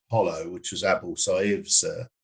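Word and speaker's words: Jolo: is an island the spell jollo but actually pronounced hollow which was able to save stronghold um and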